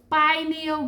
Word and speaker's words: pineal: and Pino gland this Pino gland but it's not Pino it's Pineo gland it's the hierophant it's